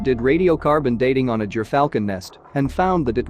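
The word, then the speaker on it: gyrfalcon: gerfalcon the gerfalcon pronounced ger falcon is a large white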